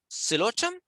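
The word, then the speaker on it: Psilotum: With this, the P is silent, so it is silotum, right? The P is silent, and they are the least complex form of terrestrial vascular plants, actually.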